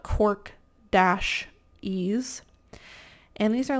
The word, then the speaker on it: Cork-Ease: Not to be confused with, I think it's spelled K-O-R-K-Y-S, which is different, but Cork-Ease.